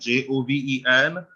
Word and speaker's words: joven: And J as a H sound, JOVEN, you say joven.